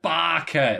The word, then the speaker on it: Baka: No, the true tech would be if she just literally went, Baka! That's how you pronounce it.